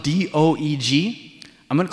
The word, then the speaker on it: Doeg: His name is spelled D-O-E-G. I'm going to call him Doug. Okay? It's probably like Doeg, but I'm going to call him Doug.